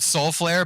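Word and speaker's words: Solflare: because it's called Soul it's called Soul flare but it's spelled Sol flare so it's like Flavor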